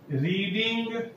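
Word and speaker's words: read: रीड का तीसरा रूप रीड रीड रीड लिखते हैं, लेकिन उच्चारण रीड रेड रेड करते हैं।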